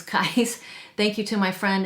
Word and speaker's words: Kyse: I've heard some people pronounce it Kyse. I actually think the correct way to pronounce it is Kyse.